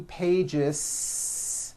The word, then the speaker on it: pages: pages it's not two pages unvoiced no it's two pages with a voiced z even though you spell the word like this in american english you